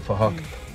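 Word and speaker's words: Phahok: His name is Fahok, but spelled with a PH, so it sounds like Fahok.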